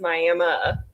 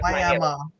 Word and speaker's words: Miami: in Ottawa County and so that's why it's pronounced Mi instead of Miami okay got it wrong yeah oh listen I'm